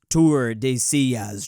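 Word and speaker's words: Tordesillas: It's pronounced Tour de Sillas, Drew.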